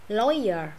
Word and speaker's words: lawyer: Ok, hồi nãy là o, bây giờ là oi nha. Lawyer. Ừ, lawyer. Thì anh nó không có đọc chữ r, chữ r sao nhiều ha. Đọc lawyer là xong. Nói chung là đọc được chữ lawyer là đúng rồi đó. Lawyer, oi oi nè.